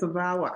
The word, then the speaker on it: VAWA: So, you help with asylum, citizenship, deportation, work permits, DACA, travel documents, VAWA, is that how it's pronounced? Yes, VAWA.